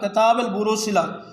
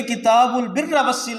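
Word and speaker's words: كتاب البر والصلة: کی تصحیح کی کہ اس کا جو صحیح تلفظ ہے وہ کتاب البروء صلہ نہیں ہے بلکہ کتاب البر والصلہ ہے، جس کا مطلب ہوتا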